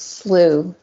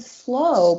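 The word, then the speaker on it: slough: I could have sworn they said slow, but it's slooh. Well, it's spelled s l o u g h.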